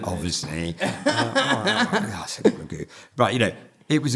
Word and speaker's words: GU: you know and they go oh God I love that BR yeah so but they might be thinking g o and then they see it oh goo is that how you pronounce it so that's that